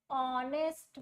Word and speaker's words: honest: For example, an honest man. Honest man. I write honest. The spelling of this word honest is started by H which is a consonant but the pronunciation is an.